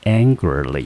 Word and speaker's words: angrily: 好，音节第一个音节念成 an，第二个念成 gr，第三个音节副词结尾的 ly，整个字重音节落在第一个音节，这个字我们就念成 angrilyAngrily。